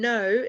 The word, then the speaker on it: know: and force geo is about the earth can know like without with the silent g is to